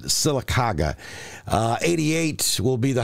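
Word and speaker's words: Sylacauga: make it to 91 that's right Laura you pronounce it silaga uh 88 will be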